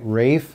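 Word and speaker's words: Ralph: with two pieces by rafe von williams and yes that is how you pronounce his first name don't ask me why now anybody that knows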